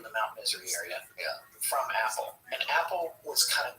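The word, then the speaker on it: Apol: like Edward Cold, who called himself Apple, A-P-O-L, pronounced Apple.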